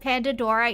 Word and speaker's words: Pandadorra: I can't believe that nobody gets that Pandadorra is like Pandora. No one gets it. It's just an extra syllable.